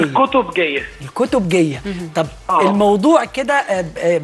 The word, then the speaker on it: الكتبجية: احنا عايزين نعرف الاول النطق بتاعنا صحيح، الخطبه جايه ولا الكتب جايه؟ الكتب جايه.